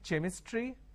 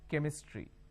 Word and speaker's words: chemistry: Can I say chemistry? No. The pronunciation is chemistry.